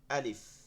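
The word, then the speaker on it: ألف: প্রথম হরফ যেটা আলিফ, এই উচ্চারণটা হচ্ছে আলিফ, আলিফ, সবাই বলেন, সাথে বলেন আলিফ। আলিফ, আলিফ, কি হবে? আলিফ, আ, আ, আ, লি, আ, লি, লি, লি, এই দাঁতটা এখানে মিলাই দিব, ফা, ফা, আলিফ, আ, আলিফ, আলিফ, আলিফ,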